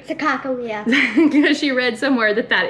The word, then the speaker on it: Sacagawea: Yeah, so the Sacagawea, Bug likes to say Sacagawea because she read somewhere that is the correct way to pronounce it.